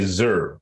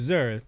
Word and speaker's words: zer: You're supposed to say Zer, but it's X. I don't. It's Zer. It's pronounced Zer, right?